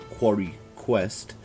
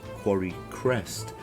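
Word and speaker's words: Quarrycrest: through the last episode i was pronouncing this place as quarry quest but it's actually quarry crest so apologies if that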